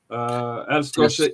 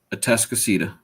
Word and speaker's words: Atascocita: League City Clear Springs Chargers versus Humble Atascosa Eagles. Atascocita. Yeah, Atascocita. Atascocita.